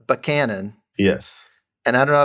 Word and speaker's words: Buchanan: Yeah, because a lot of people call it Buchanan, but you must have done some research because that's how you say it when you're from there.